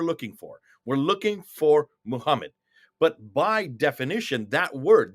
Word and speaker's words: Muhammad: How do you pronounce MHMD in English? Well, you'd say Muhammad, and that's what we would say.